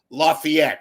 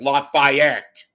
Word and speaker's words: Lafayette: where they're covering, what they're covering, how to pronounce, just for example, Lafayette and not refer to it as Lafayette for God's sakes.